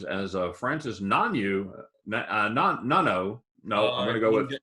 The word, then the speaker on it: Ngannou: Ngannou, would you say Ngannou? Ngannou. So we do pronounce the G.